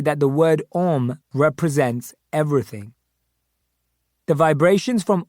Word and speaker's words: Om: is praised in chanting om comprises three syllables a-u-m in vedic tradition this